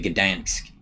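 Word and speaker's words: Gdańsk: of his live DVD CD combos, Live at Gdansk. Am I pronouncing that right?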